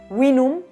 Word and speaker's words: vinum: zonas O sea que esto que en latín se pronunciaba winum seguiría pronunciándose en el romance británico wino podría ser podría no